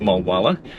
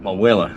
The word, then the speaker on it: Mulwala: I've discovered it's not pronounced Mulwala. The locals pronounce it Mulwala.